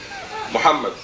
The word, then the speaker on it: Muhammad: Muhammad. We said, but since you stress the second M, you must write Muhammad.